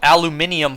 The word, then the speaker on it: aluminium: So we were all out of aluminium foil at home. Does that trigger anyone when I say it, when I pronounce it like that?